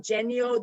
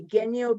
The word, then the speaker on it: Genio: okay first of all if i call him genio then people will think of jenny like jenny or like their english name jenny so i didn't want him to but it kind of i kind of wanted to so i kind of went the other way i said okay genyo because it's more like it sounds like that character more he's not a jenny